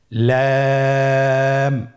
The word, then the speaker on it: لام: লাম হরফটি উচ্চারণের ক্ষেত্রে অবশ্যই বারিক হবে এবং তিন আলিফ টেনে পড়তে হবে।